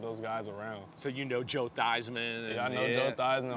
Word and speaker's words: Theismann: So Joe Theismann. Yeah, I know Joe Theismann. All those guys come back around. Right. Damn, changed his name to rhyme with Heisman.